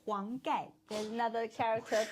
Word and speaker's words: Huang Gai: He's a Hung guy. not hunger, Huang Gai.